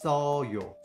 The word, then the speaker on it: 써요: But because of that, there's no sound, you're gonna pronounce 써요. 써요.